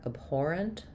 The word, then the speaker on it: abhorrent: Um, I'm gonna write the rent really almost just as having no vowel. Um, there will be a little bit of a short schwah in there. Abhorent.